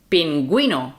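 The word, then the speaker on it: pingüino: I'm here okay so when you see the U with the two dots that means the U has to be pronounced so that would be gu like beling beling bilingual and G U with the D is I will be gu penguino pin penguin mhm okay now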